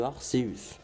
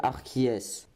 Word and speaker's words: Arceus: AR se nomme système Arceus. Et voilà, nous savons enfin comment se prononce Arceus. Et bah oui, car Arceus sont les diminutifs d'Arceus. Allez, à tous ceux qui disent Arceus, bah allez, au revoir.